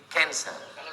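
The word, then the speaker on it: cancer: Masuk ke dalam darah, menggumpal-menggumpal menjadi kanser. Tulisannya C A N C E R. Orang Barat membacanya kanser. Orang kita susah menyebut kanser.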